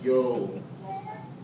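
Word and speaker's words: εὖ: U it's e u just pronounce yo you know how you walk in the street yo yo that word means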